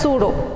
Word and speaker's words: pseudo: The coelom, or this word pseudo, wherever you come across with the word, see here the P is silent, it is pronounced as pseudo.